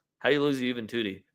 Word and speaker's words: Juventude: How do you lose to Juventude? Their name literally rhymes with booty.